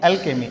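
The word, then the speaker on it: alchemy: यहाँ पर जो है सी को का पढ़ेंगे, ठीक, और यहाँ पर एच साइलेंट रहता है तो चा नहीं पढ़ेंगे, का पढ़ेंगे। एल्केमी, एल्केमी का मतलब होता है रसायन।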